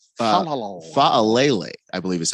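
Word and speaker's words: Faalele: Daniel, is that how you say his name? Fa'alele, I believe is how you say it.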